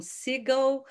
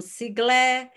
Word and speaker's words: Siegle: Agora, nos bastidores, ele nos contou que o seu nome pode ser pronunciado como Siegel ou como Siegle, é de origem...